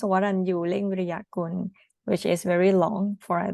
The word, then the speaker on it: Waranyu Viriyakun: I can show you how to pronounce Waranyu Viriyakun, which is very long for the foreigner to pronounce.